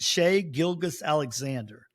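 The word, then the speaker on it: Shai Gilgeous-Alexander: Shay Gilgus Alexander. Shay is spelled S Hi.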